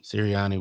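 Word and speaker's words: Sirianni: Siri Sirriiani was on the You said it right.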